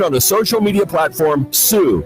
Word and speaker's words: Tsu: Winning videos will be streamed on the social media platform Sue, that's spelled TSU, and the overall winner